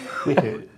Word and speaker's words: Whitters: So joining us today, in addition to Stan, of course, is Whitters, is the correct pronunciation, I think? Yes. Whitters.